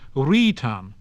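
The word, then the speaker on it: wrītan: So knicht, which has become night, began with K, and ritan, to write, began with W.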